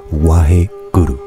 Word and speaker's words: Waheguru: presque inaudible, hein, donc il faut bien rouler le R. Waheguru. Waheguru. En fait, guru, ça se prononce gru. Waheguru. Waheguru. Hein, c'est pas Waheguru, Waheguru, hein, c'est Waheguru.